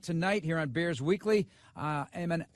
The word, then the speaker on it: Amen: said it right, but you made a slight mistake. Oh no! Amen. What did I do? No. It's Amen. What did I say? You said Amen. Right, so I blew the whole thing, Tommy.